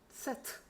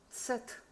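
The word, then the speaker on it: Zett: 그 다음에 세트. 세트. 요건 츠하고 소리내는 요령은 비슷한데 뒤에 트로 끝난다.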